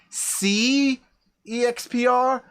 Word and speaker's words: SeExpr: x p r and i actually believe it's supposed to be pronounced c exp and the reason is